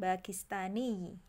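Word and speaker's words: باكستاني: kan lalu kita wakafkan bakistani ditekan ya karena ada tasdid Adapun kalau negaranya ana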